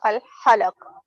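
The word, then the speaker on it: الحلق: Yes, center of al-halaq. Say after me, al-halaq, Al-alaq. not alaq. Ha, ha. Again, the word you pronounced, it has ha again. Okay. Al-halaq. Al-halaq. Al-halaq.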